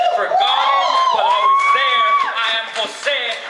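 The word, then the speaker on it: José: name for G but always there I am Jose not Jose I am this understood but not questioned enough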